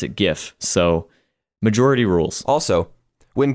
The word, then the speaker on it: GIF: compelling evidence of that is the fact that gif stands for graphics interchange format and Nots Graphics exactly plus 70% of the people in the world according to this random poll on Google Images pronounce it gif so majority rules also when people are like